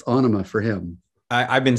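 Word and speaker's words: Ænima: how maynard says it he's the writer it's onoma for him i've been saying anema before so anima in 1996 uh is it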